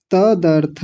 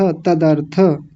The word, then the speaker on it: तदर्थ: तदर्थ, तदर्थ, तदर्थ तज्जपस्थदर्थ नहीं, तदर्थ, थ को तज्जपस्थदर्थ तदर्थ नहीं, तदर्थ, द को पहले लाएंगे, थ को बाद में लाएंगे।